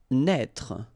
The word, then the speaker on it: naître: Naître. Okay, same thing here for the circonflexe. Write it, but don't pronounce it.